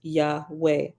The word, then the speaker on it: Yahweh: Hebrew name for deity Yahweh pronounced Yahweh although you will usually